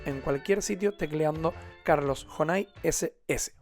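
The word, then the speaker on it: Jonay: cualquier sitio tecleando Carlos Honai SS. Honai es un nombre geneche que se escribe con J y con Y.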